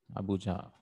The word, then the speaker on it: Abuja: Is it the correct pronunciation? Abuja.